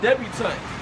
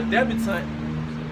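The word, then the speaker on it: debutante: like etiquette and dealing with daughters it's called debutant and this is the definition for debutant and it's go it goes back to the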